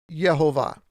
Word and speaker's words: Jehovah: is the word yod hey vavhay or properly pronounced jehovah so uh for i am jehovah i do